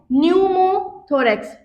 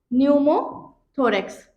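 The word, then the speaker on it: pneumothorax: अगर इसमें हवा भर गई तो हम इसे क्या कहेंगे, हम इसे कहेंगे न्यूमोथोरेक्स, ठीक है, न्यूमोथोरेक्स। जो न्यूमो वर्ड है जिसमें पी साइलेंट है, ये मेनली आपकी एयर के लिए यूज होता है, ठीक है।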